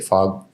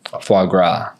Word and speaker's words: foie gras: I had my How do you say fog? Foie gras.